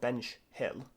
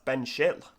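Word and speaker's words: Benchill: continuing up we have ben shill or ben schill yeah it's not bench hill that's ben schill so uh so yeah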